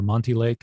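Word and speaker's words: Monte Lake: that way you come to i hope i pronounce it late correctly it's very much in the news manta lake or monty lake that's correct and that's where um you know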